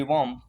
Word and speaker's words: womb: बी जो है silent. WOMB वॉम, वॉम mean बच्चादानी।